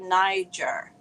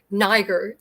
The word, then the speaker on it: Niger: you know it's funny there's a debate how to say the name and i have played many many little sound clips online to try and say it correctly niger is the way that i think that is um sort of typical of the region but most people do say niger okay perfect yeah well